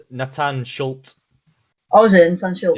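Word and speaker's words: Natan Schulte: Brazilian, the PFL, Nathan Chillet, I think. Oh, Chillet? no, that's it's pronounced Nathan Schultz.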